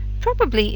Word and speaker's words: probably: day you say Wednesday probably is a little bit more problematic when you say it by itself you tend to say it with three syllables but often in speech for example I'll probably see you tomorrow you'll hear that the B bit gets lost in um rapid speech and then it turns to two syllables and that can